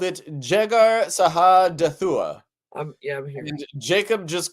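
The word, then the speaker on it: Jegar-sahadutha: Laban called it Jegar Shadahalatha, and Jacob called it Gilead. I like Jacob's version because it's much easier to pronounce and read. How do you say the other one? Sahadathua.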